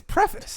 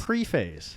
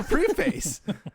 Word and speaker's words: preface: sean get a dictionary it's preface pre-phase it's never free face pre-face preface i'm not saying that the words wrong i'm saying your pronunciation's wrong one movie that i